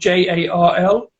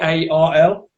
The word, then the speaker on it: Jarl: It's like a pale ale, but it's spelled Jarl. But apparently it's pronounced Jarl. So they said they were going to actually change it to Yarl.